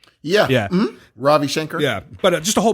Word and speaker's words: Ravi Shankar: his shanker how do you say his name robbie shanker yeah yeah ravi shankar yeah but just a whole bunch of people